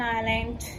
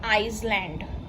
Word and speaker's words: island: we use an an elephant an apple an island it is not iceland this is silent we call it as an island an